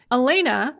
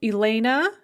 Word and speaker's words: Elena: or ilyana in russian the ah sound at the end of the name is unstressed in both versions and is pronounced as a kind of an uh or what's called a schwa sound so elena yuliana in both cases the ah is not pronounced ah but uh so how does vowel